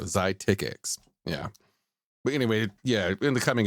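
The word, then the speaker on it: Xiticix: What always throws me off when it's spelled this way, the Z-EYE, is it makes it sound like it's Z-I because it looks like it's 2 syllables, but it really should be Z-E-E. So that should be 1 syllable. So it should be Zy. So Zytix.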